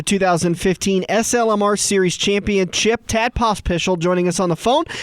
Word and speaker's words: Pospisil: We're talking with the runner-up for the 2015 SLMR Series Championship, Tad Pospisil, joining us on the phone. And Tad, I got to get a clarification just to start off with. Pospisil? Pospisil, yep.